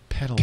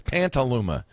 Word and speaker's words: Petaluma: Petaluma. P-E-T-A-L-U-M-A. Hey, he did it right. No N. Usually he adds Pantaluma.